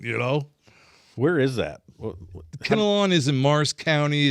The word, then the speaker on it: Kinnelon: it was mindblowing you know where is that kenalan is in Mars County it's spell it k i n n e l o